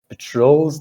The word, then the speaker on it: patrol: guard with a duck patrols the building site at night and also i guess because it's a verb verbs most likely in english um the stresses on the second syllable patrol i don't know if